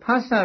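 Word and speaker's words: phassa: it is pasta now ph in ali should be pronounced pa and not not as f in english now pasa means touching so here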